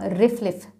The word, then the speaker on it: RFLP: Different तरह के procedures use हो सकते हैं, लेकिन उनमें से एक प्रोसीजर है रिस्ट्रिक्शन फ्रेगमेंट लेंथ पॉलीमॉर्फिज्म, जिसको हम सिंपली RFLPs या रिफ्लिफ प्रोनाउंस करते हैं।